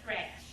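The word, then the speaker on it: thresh: By the way, T-H-R-E-S-H has always been pronounced in this area thrash. You wouldn't pronounce fresh, F-R-E-S-H, fresh. So I checked the dictionary, and neither pronunciation is wrong.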